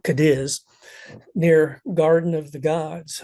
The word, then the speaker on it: Cadiz: beautiful beautiful place and Camp cadis uh actually they pronounce that camp Cadiz near Garden of the